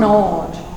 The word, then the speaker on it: gnawed: Gnawed. The G is silent or almost silent.